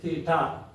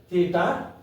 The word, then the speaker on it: Theta: decide what the angle we denot it by Theta you come across with a new word how to pronounce this Theta t h e d a